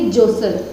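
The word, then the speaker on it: jostle: ठीक है, आगे जो वर्ड आया इसमें टी साइलेंट रखकर जब इसका उच्चारण करेंगे तो कैसे बोलेंगे, जोसल, ठीक है, जोसल।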